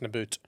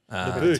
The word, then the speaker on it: Nabbout: My surname's pronounced Nabbout. Nabbout.